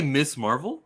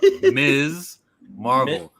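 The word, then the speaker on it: Ms. Marvel: that pans out more did you just say Miss Marvel I'm sorry um is Miss Marvel you better listen her name is pronounced Ms Marvel Ms Marvel I promise you the pronoun of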